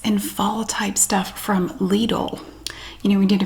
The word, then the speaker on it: Lidl: should do lidl as well and it is pronounced lidl in the usa i made a video about